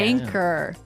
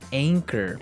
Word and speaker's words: anchor: Anchor. Anchor. Anchor. Now, it's spelled A-N-C-H-O-R. Right. But you don't pronounce the CH as you normally would, right?